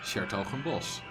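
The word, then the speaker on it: 's-Hertogenbosch: Shertogenbos.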